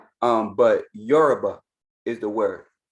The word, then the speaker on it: Yoruba: yoruba is the word if you from the caribbean if you're from like a latin island they will say yaruba because it's their accent is how they say it yaruba but the correct term is yoruba people from that area will call themselves yoruba right but they will